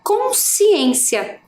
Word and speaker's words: consciência: Quando eu faço a pronúncia dessa palavra no todo, a gente quase não consegue perceber que fica, né, cons. A gente fala consciência, né? Então dá a impressão que só tem ali uma sílaba no si, né?